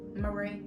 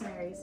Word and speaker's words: Mary's: I also have Mary's Gone Crackers or Marie. No, it's Mary's. It's Mary's.